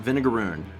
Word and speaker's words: vinegaroon: So it's spelled vinegar, but then O-O-N. Yeah. Vinegaroon.